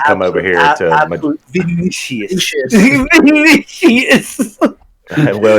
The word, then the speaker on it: Vinicius: Well, I want the actual Vincenus to come over here to Madrid. Vinicius. Well, it's about to be pronounced victory if we get that guy.